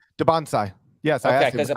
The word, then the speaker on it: Dybantsa: Dybantsa. Yes, I okay, asked him. because people were saying Dybantsa before, but if he says Dybantsa, he's the man, so he knows.